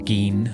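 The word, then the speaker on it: Gein: very much inspired by the real life serial killer Ed Gain, of course, or Gin, I think you say you're supposed to pronounce it.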